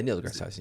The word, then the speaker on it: Neil deGrasse Tyson: Neil deGrasse Tyson.